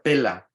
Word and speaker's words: Pella: que se llamaba pela se escribe pella verdad Pero el nombre se pronuncia pela es con doble L y dice que muchos